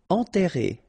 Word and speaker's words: enterré: Enterré, okay, remember, N together, nasal, en, and then you get this double R here, and it will open the sound of the okay?